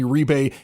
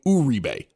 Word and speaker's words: Uribe: We've always known him as Juan Uribe. He goes to the Giants and they're calling him Uribe.